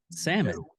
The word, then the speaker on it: salmon: I was like Sal salmon the L is silent she goes no it's